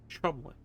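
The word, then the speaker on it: Cholmondeley: That's a real English name and it's pronounced Chumley.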